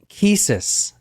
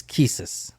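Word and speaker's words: qisas: Golden Rule is called Kus I think I'm pronouncing that right Q IAS it's an Arabic term it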